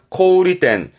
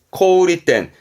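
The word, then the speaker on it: 小売店: 어렵지 않죠 소매 점입니다만 발음 조심하세요 코리텐 코우리 텐 코우리 텐입니다 소매는 코우리 코우리 조심하셔야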